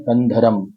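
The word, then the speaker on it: कन्धरम्: बोला जाता है कि म की टांग तोड़ी दी हुई है। मतलब एक इस तरह से डश लगाया हुआ होता है ताकि आपको म पूरा नहीं पढ़ना है। कंध म ऐसे नहीं बोलना है। कंधरम कंध इस तरह से आपको इसको उच्चारित करना है। जब आप ल में बोलते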